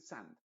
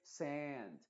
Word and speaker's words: sand: Es decir, no trate de decir sand, bath, chat, no, sino que sand. Tómate tu tiempo y no estés apresurado, porque esta vocal necesita